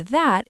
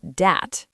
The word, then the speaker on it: that: Many learners say dis and dat. Yes, the correct pronunciation is this and that. You need to make the th sound.